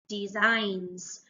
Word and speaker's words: designs: word to read because the letters don't all make the sounds that you think they do so this in this word makes a z sound designs so underline the